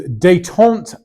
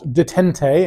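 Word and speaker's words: détente: takes us up to 1972 And it is dayon and the Thor and the role of China it is pronounced dayon not detente as someone has said before to me dayon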